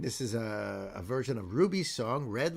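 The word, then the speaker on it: RWBY: So the number one Kenote is Ruby, pronounced as Ruby because it's R-W-B-Y, is one of the most popular American-made fantasy animes out there.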